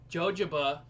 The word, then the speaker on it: jojoba: Jojoba or jojoba, however you want to pronounce it. I know there's a couple different ways to pronounce it out there. Whichever is fine.